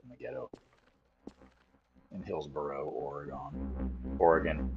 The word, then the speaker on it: Oregon: the ghetto in Hillsboro Oregon Oregon it's pronounced Oregon it's not or a gun orgon it's orgon you can say orgon